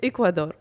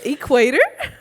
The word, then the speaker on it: Ecuador: you just call Sor I apologize Ecuador I said equator that sound very very